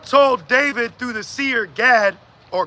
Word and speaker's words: Gad: David through the sear Gad or God as you would pronounce it in the Hebrew right AB God God